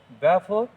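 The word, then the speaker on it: Balfour: এবার দেখো ব্যালফোর, বানানটা দেখো ব্যালফোর আছে, BAL, এল এর উচ্চারণ কিন্তু হবে না, ব্যাফোর।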